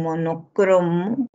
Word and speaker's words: monocromo: hay acto puntual y aquí en monocromo es una palabra grave también no en la